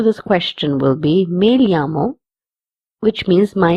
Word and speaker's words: llamo: As you can see, the third word has two L's. In this, two L's will be pronounced as lia or ya. If you're in Spain, you will pronounce as lia, and if you're in Latin America, you will pronounce it as ya.